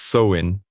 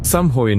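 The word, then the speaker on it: Samhain: 2,000 years to the Celtic Festival of samin pronounced soin an ancient isand and Scotland Sam Hoin marked the end of the Harvest and the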